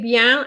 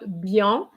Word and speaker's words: bien: pay attention to are the words like bian okay bien and not beyond okay words like boom